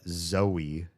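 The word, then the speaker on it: Zoë: Screaming don't pronounce this like Joe or um toe. It's Zoe. Yeah.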